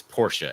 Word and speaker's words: Porsche: atam sorry not happening by the way it's Porsche everybody the same way it's not naand it it's the way a man pronounces his name I can't I can't say